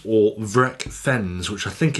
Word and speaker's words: FREKVENS: going to call them FREKVENS because that is how ignorant English people probably say stuff, by how they're spelt.